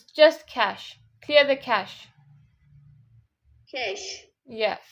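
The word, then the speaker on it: cache: Some people, yeah, that's how they pronounce clear the keshi or something. We don't say like that. No, it's not even keshi. It's cash. It's just cash.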